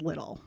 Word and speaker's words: Liddell: I think it's Little family, but I want to say Liddell because it's spelled Liddell. Huh. You'll see why I think it's Little in a while.